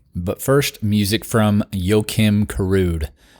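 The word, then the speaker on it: Karud: first music from yoim kude you spell that like yoim NOA the basketball player if you know him kude k a r u d also music on this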